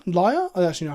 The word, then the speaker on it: Lyre: A foil entrancing Lyre, not Leah, Lyre?